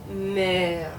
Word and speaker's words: mère: So in the word mère, okay? So notice here you have two different E's. Now this E is silent, no accent mark. This is an accent grave, and it's going to make it sound like it's going down a little bit. So, mer.